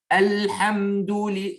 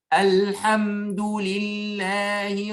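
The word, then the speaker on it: الحمد لله: Alhamdoulillahi, il ne fait pas alham. Ah, ça c'est faux. Il faut faire Alhamdoulillahi Rabbil Alamin.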